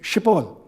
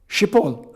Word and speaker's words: Schiphol: No matter how many times they told me how to pronounce the word Schiphol, that phoneme is not in Irish or in English.